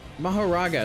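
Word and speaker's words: Mahoraga: anyone to survive fighting sakuna like Jesus Christ mahara is how you pronounce it that is just that that is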